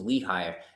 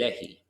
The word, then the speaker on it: Lehi: is home of lehigher as we would say over here in America against but a more accurate pronunciation would actually be lechi and that's uh because it descends from uh Semitic Linguistics it's a it's a Hebrew name so this place bait